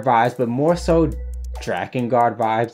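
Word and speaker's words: Drakengard: Vibes but more so dragonard Vibes that's how I pronounce it I don't know is it dra and guard ew Dragon guard for those who don't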